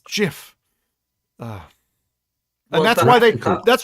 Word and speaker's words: GIF: like the gift thing no but it's Jiff and that's why they